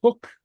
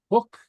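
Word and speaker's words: thug: th in English uh it disappears and acquires an H sound so hook okay uh uh uh to gave something a past tense of the verb to give okay hook in the middle of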